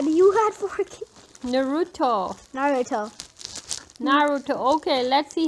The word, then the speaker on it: Naruto: No, you are pronouncing it wrong. Naruto. You are saying Naruto. It like Canadian. Say it like Japanese guy.